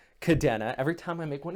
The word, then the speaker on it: Kadena: would be an i if you pronounced it kadina the way i noticed a lot of the military pronounces it out there i even served they used to pronounce it the wrong way until i was told